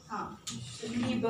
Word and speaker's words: Liebe: I is E, no? Liebe.